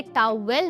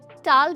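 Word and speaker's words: towel: दोस्तों इसे टाऊ वेल नहीं टाल प्रोनाउंस करते हैं।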